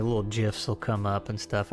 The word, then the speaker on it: GIF: GIF. Yes, because that is how it is pronounced.